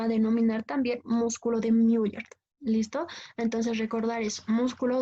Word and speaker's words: Müller: Müller se escribe, ¿no ve?